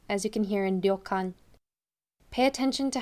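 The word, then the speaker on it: 旅館: gums and teeth meet so it's not ryokan or leo khan but ryokan i'm not a native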